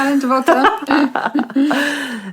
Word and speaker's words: Alain de Botton: Is that how you pronounce it? Yeah, Alain de Botton.